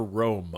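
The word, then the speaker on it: Rûm: We will create a new, better Rome under the guiding light of Allah. Oh, it's Rome, but it's spelled rum.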